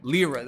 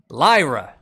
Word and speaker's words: Lyra: I don't think I LRA. All right, Lyra.